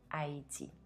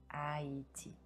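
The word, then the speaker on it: Haïti: In French, we don't pronounce the letter ash at the beginning of the word, so simply say Haiti. Haiti.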